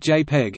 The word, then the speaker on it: JPEG: JPEG, pronounced JPEG, is a most commonly used standard method of lossy compression for photographic images.